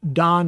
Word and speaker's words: Dan: his name don and it's pronounced don like we say the name donald don and it means judged